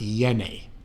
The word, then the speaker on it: Jenny: Now, it's spelled like Jenny, a little tip of the hat to Forrest Gump, but it is properly pronounced Yeni.